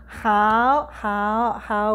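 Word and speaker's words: hao: How. We always end our practice by saying how three times. How is spelled H-A-O and means good job, well done, perfect, get well for you and your home.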